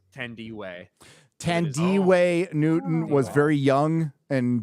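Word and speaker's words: Thandiwe: uh is it fandy or thand way or Tandy what is it now standing Andy is what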